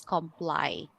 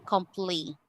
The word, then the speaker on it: comply: So again the pronunciation of this is comply not completely. Okay because this is actually a common misconception that l y is always pronounced as lee.